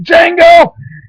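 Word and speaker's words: Django: And he's like, "Jango, D Jango." D is silent hippie.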